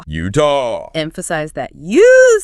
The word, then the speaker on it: Utah: from the Ute tribe it is and it's pronounced Utah Utah emphasize that you s utah I like that